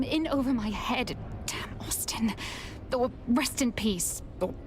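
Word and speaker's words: Osten: This name being pronounced Austin, it just screams white person trying to be different with the spelling. It's O-S-T-E-N. Pronounced Austin.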